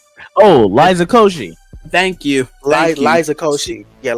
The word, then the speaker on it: Koshy: Liza Kosha. I don't know who that is actually. Liza, that's her first name. Oh, Liza Koshy. Thank you. Liza Koshy. Yeah, Liza Koshy.